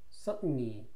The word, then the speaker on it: certainly: certainly 확실히 certainly certainly죠 certainly인데 T 발음이 받침으로 들어가는 게 미국식 영어의 특징입니다.